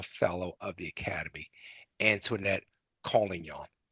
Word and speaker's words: Collignon: of the academy, Antonette calling y'all. Am I pronouncing your last name correctly, Antwinette? Superb. Thank you so much.